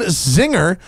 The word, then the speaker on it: Czinger: Kevin zinger of zinger and just like he told me earlier it like czar like the Czar of Russia sees II mean is pronounced Zee welcome sir Thanks smoking